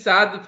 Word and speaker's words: Saad: So actually, when Saad contacted me, Saad pronunciation is Saad fine, no? Or your name pronunciation is different? No, sir, it's right.